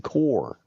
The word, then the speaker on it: Corps: It's not the Marine Corps; it's the Marine Corps. Yeah. Yeah, yeah. The P is silent, like Yeah.